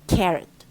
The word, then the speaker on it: carrot: What happens is that K is a stressed syllable and rot becomes rot مفروض اللي ROT ديت خلاص. It's not strong. It becomes weak. فعلى طول we have to weaken the O and turn it into شوية. So we say carrot.